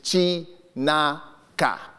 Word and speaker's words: Chinaka: My third name, and this is very traditional, and I'll pronounce it as it's spelt, is Chinaka. Sounds like Kunta Kinte, you know, something really dramatic.